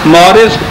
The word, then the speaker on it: Maurice: یہ ڈاکٹر ہے, یہ فرینچ نیم ہے, شاید اس کے تلفظ ایسا صحیح نہ ہو. مورس بقائے اس کو کہتے ہیں کہ یوں پڑھنا چاہیے, اگرچہ وہ MAURICE ہے اور وہ اگلا ہے BUCAILLE.